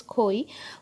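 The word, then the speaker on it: খই: of silver kai's uh i suppose it is koi okay even i have to take yeah koi uh in the bengali pronunciation of this thing is khoi which is uh made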